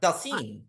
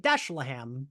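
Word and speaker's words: Dhalsim: Dalsim. I said it Dashlaham. I was just like, I don't know how to say this word. That makes sense. There's an H. So yeah, there's a lot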